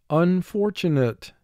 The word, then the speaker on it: unfortunate: Four syllables, first syllable un, two sounds, a, n. Four, two sounds, f, or. Tu, two sounds, t, u. Nate, three sounds, n, a, t. Un, for, tu, nate.